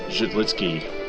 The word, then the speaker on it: Zidlicky: night newcomer defenseman meric zit litzky jit litzky that's how it's pronounced according to Mickey Redmond got his got the